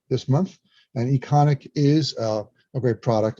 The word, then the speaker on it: Econiq: But we added Econic and Pulse 360 that are both related to